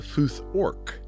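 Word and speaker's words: futhorc: runic alphabet is called the futh orc because the a sound gradually evolved into an o sound for another in england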